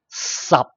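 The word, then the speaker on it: 十: And then number 10 in Cantonese will be pronounced sub. sub. Okay, it's tone 9, but actually is equal to tone 6. You may see here. So the only difference the end with P. Okay, sub.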